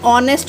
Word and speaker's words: honest: Like an honest man, honest. It's not a honest, it's a honest, because H is the silent letter.